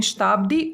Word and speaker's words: शताब्दी: शताब्दी में भी हम इस प्रकार से लिखते हैं, छोटी की मात्रा के साथ, लेकिन शताब्दी उच्चारण में द के ऊपर बल दिया जा रहा है, तो यहाँ पर शताब्दी इस तरीके से लिखा जाएगा।